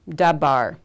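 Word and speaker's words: דָּבַר: And the way we pronounce it is dabar. So we're going to use the dagesh form because that's the way we're pronouncing the aleph beit form of the beit.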